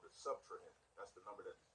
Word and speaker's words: subtrahend: The second number is called the subtrahend. That's the number that is being subtracted. The subtrahend. Subtrahend. That's 3 syllables, right?